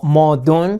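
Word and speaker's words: 矛盾: La palabra en chino, para decir contradicción, que se pronuncia algo así como modun, se compone de los caracteres lanza y escudo.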